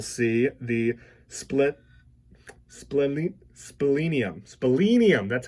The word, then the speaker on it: splenium: callosum we will see the split splendin splenium spellinium that's how you say it which communicates with